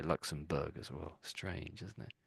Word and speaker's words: Luxembourg: But we pronounce it as Luxembourg, Berg on the end there, Berg. Yeah, so strange, isn't it? So, but here we say borough, but there it's Berg, and and there's a